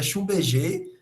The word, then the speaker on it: Schlumberger: trabalhava numa empresa multinacional, a pronúncia é um pouco estranha, mas é Schlumberger, a empresa, e assim, por incrível que pareça, ele optou por sair.